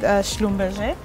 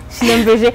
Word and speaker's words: Schlumberger: Anyway, so I was working with Schlumberger. Best in Congo as a petroleum. Wait, how do you say that? You say it's so fancy. Schlumberger.